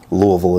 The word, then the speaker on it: Louisville: Louisville is the proper way to say it.